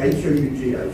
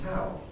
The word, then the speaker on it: Hough: Okay, H-O-U-G-H, pronounced in Scottish English as Hough. And so Hough he was for the rest of his life, because up until that moment, he thought of himself as Hal.